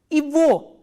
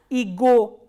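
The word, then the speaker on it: его: And one more thing you have to remember is, in this combination, this g is pronounced as v, not as g. So, how will you pronounce this? Ivo, not as ego.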